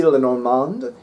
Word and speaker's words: Lenormand: maybe Len Len like I can only pronounce it the French way maybe lenormand but I've warmed up